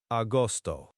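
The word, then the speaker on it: agosto: Austoto. A G O S T O. Austoto. Austoto. Okay. Like father. The G is soft like almost between vowels sometimes.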